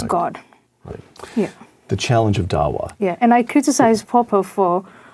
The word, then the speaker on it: Dawa: written this book about it the challenge of Dawa which I'm sure I'm mispronouncing would you just first of all pronounce it correctly and then tell us what it means Dawa is the way it's pronounced and what it